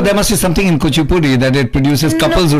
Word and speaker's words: Kuchipudi: Actually, you don't pronounce it as Kuchipudi, but it's Kuchipudi. Kuchipudi. So okay. it's almost like a double O instead of the U. Kuch, like Kuch Bihar.